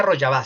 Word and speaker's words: Rojava: Yo estuve en Rojava, la región se pronuncia Rojava, significa occidente, y en Kobane.